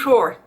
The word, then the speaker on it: Hoor: A cute Hoor. And it's not, again, I mean, it's spelled H-O-O-R.